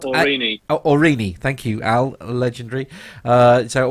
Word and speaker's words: Aurigny: It's spelled Aurigny. Aurigny. Thank you, Al. Legendary. So Aurigny is to operate flights out of Guernsey.